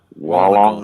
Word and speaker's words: Wollongong: Wollongong. Oh, Wollongong. Yeah, Wollongong. very good. You say Wollongong. Wollongong? how is it? Yeah, where's the emphasis? Wollongong. Oh, Wollongong. Well, so it's like the first syllable.